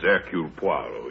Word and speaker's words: Hercule Poirot: If I may be permitted the one slight correction, my name is Hercule Poirot. Your good sister proceeds on the familiar English assumption that we are not English, do not know how to pronounce our own silly names.